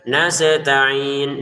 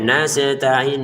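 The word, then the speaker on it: نستعين: Sehingga jangan dibaca nastain nastain wa iyaka nasta'in wa iyyaka nasta'in. Nah, siapa nih pemirsa yang selama ini bacanya nasetain nasetain ya? Silakan komentar di bawah ya. Harus itu diperbaiki ya.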